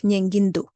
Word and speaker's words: ཉན་གྱི་འདུག: So it should actually be nyen gi do, which sounds like nyengindu in Lhasa typical pronunciation.